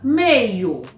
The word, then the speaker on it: meio: Veja o exemplo da palavra meio. Meio. Meio. Olha a pronúncia. Meio. E não, meio. E não, meio. Não. O correto é mei.